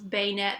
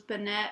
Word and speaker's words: Banette: and they actually said the correct pronunciation was beignet they had a big discussion on with her it was Banette or beignet and it's